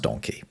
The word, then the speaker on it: donkey: The reason that donkey is spelt the same as monkey is because it used to be pronounced the same as monkey, just with a D instead of an M.